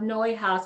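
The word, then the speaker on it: Neuhaus: brand to think of noi house I don't have any of them here with me and I'm sorry for that noise uh it's spelled uh not quite like it sounds but it's a Belgian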